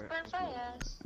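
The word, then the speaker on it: Brent Faiyaz: It's Brent Fayez.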